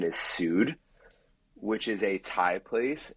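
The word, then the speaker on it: Soothr: had quite the experience at what most people pronounce as Soother but what I believe the correct pronunciation is Su which is a Thai place in the East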